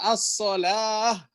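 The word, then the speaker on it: الصلاة: As-shalah. Ya, tulisannya wow, bacanya alif.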